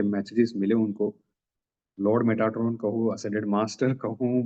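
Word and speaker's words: Metatron: तो मैसेजेस आते थे मेटाट्रोन से। मेटारोन भी कह सकते हैं। टी साइलेंट करके मेटाट्रोन भी बोल सकते हैं।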